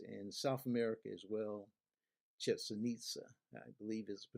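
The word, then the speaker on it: Chichén Itzá: Chichen Itza, I believe is the pronunciation of the name.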